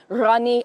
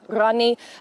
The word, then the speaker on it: Ghani: I spoke actually to an Afghanistan man this morning here in London, and he says that pronunciation for them is actually Rani, Ashraf Rani.